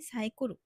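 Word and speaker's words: サイクル: যেমন তারা সাইকেলকে বলে সাইকোরু, মিল্ককে বলে মিরুকো, ট্রিপ।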